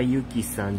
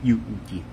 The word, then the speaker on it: Yuuki: Konnichiwa Yuki-san, John. Actually, my name is Yuuki. Yuuki. Pronunciation is Yuuki.